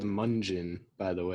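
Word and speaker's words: Mungion: really good it's spelled munjin by the way that's correct like Funyun yeah I was pronouncing it wrong for a longest time and someone corrected me Oh have you heard this band munjin into selling and oh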